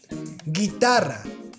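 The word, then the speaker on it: guitarra: sound gay engine well you have to add a u between the g and e and between the g and i so we have words like guerra guerra guitar guitar and also there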